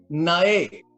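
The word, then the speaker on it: נאה: Nae, con acento en la E. Nae.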